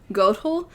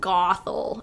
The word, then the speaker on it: Gothel: the book of gothel i believe it's technically pronounced goathole because it is i think german so i apologize for being like gothel and being very american but either way the